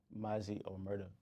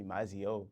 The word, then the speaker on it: MazziOmerta: Like they call me Mazzio. Like I don't even know where the hell you get that shit from. Like, or they'll be like, Omerta. Like it's just all the time.